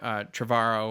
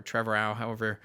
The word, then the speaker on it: Trevorrow: So they don't have to deal with that until the next film, which is being directed by Colin Trevorrow or Trevorrow, however you prefer to pronounce it, the director of Jurassic World.